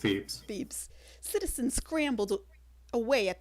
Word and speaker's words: Thebes: How's it pronounced? Thebes, it's just Thebes.